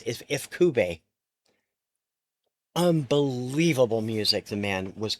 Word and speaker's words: Ifukube: The music by I always say his name wrong, Akira Ifukube. We always said Ikafube. It's Ifukube.